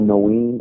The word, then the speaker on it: Noene: Yeah, so that company is called nothin. It's spelled Noene.